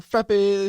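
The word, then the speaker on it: frappé: That's not how you pronounce it. It's I know. frappe. Frappe. With a little line over the E, I think.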